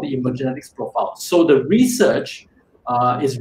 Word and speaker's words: Emergenetics: When we talk about the word emergenetics, unfortunately, it can be a little bit difficult to pronounce, but it's actually pronounced as emergenetics.